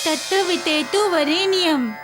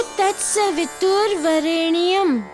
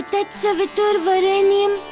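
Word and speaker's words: तत्सवितुर्वरेण्यम्: तत्वितेतु वरेण्यम। नहीं दामोदर, बोलो तत्सवितुर्वरेण्यम। तोड़ तोड़ के याद करो, सरलता से याद हो जाएगा और उच्चारण भी सही हो जाएगा।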